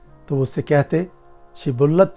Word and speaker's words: شبلت: اگر وہ جواب دیتا نہیں تو وہ اس سے کہتے شبلت تو بول، تو وہ سبلت کہتا، کیونکہ اس سے اس کا صحیح تلفظ نہیں ہو سکتا تھا۔ تب وہ اسے پکڑ